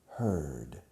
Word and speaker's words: heard: you're there here now the past tense is heard the pronunciation changes and it's like Adia for her with a d at the end heard okay I heard you